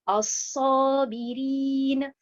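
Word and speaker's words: الصابرين: Et encore par rapport aux règles du tajwid, la première prononciation qui est as-sabiroun, la lettre ra, elle est beaucoup plus emphatique, en forme emphatique. Mais lorsque je lis as-sabirin, là j'ai un petit peu affini la lettre ra, d'accord?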